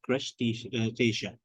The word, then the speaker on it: crustacean: on the crab Lobster and shrimps and it's pronounced as crushed station so that Asia is at the end and